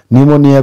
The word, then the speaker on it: pneumonia: Pneumonia ko P silence huncha.